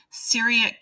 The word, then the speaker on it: Syriac: Kerala, I believe is how it's pronounced, is kind of the center of that community. And then there's this tie to Syriac Christian liturgy.